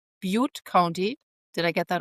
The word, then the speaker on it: Butte: California, in a particular county in California called Butte County. Did I get that right? Butte, the right pronunciation?